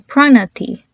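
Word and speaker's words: Pranathi: fun or morals and the I at the end is a long eye the p r and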